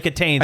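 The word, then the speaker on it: Kitaen: Is that how you pronounce her Tawny name? Katane, yeah.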